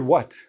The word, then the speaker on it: what: The word what. Now, if you listen to native speakers, hardly anybody actually pronounces the T.